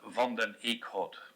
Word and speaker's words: Van Den Eeckhoudt: my surname is pronounced London ich hot but it's a real Flemish name so I can understand